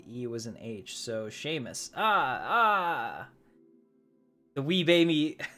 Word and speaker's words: Seamus: pronounce as if the EU was an age so Seamus ah ah the wee baby the wee baby